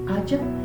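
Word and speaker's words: haya: cuando alguien les dice no se dice haiga se dice hacha dice toda mi vida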